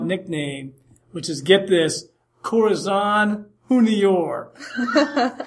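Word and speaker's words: Corazón: And I'll tell you what, I like your pronunciation. It's better than mine. Corazon as opposed to Corazon. That's getting it done. I'm anglicizing things.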